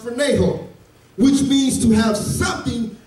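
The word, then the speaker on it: φρονέω: The word mind in the Greek is pronounced phroneho, which means to have something as habit of your thought.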